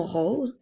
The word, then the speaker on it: rose: r o s e attention à la lettre S tout comme dans le mot maison il y a une voyelle devant la lettre O et une voyelle après donc la lettre E donc